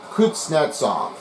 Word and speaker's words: Kuznetsov: Well, as you may have just heard, it's Kuznetsov.